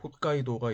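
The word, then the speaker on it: 北海道: 그리고 인삼처럼 약간 길게 늘어진 섬이 본주, 일본어 발음으로 혼슈입니다. 그리고 이 지도에는 표시되지 않았는데 본주 북쪽에 북해도, 홋카이도가 있습니다.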